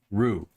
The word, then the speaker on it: roux: to make a proper roux roux as in r-u-e roux that's how they say it if you don't know